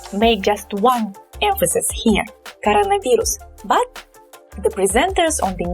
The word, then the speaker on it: коронавирус: So this O is definitely unstressed, but since it's kind of two words within one word, we pronounce them separately. So we pronounce these two roots, these two stems separately. Coronavirus.